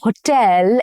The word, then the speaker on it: hotel: We stayed at a 5-star hotel in Paris. Stress is on the second syllable again and not on the first one.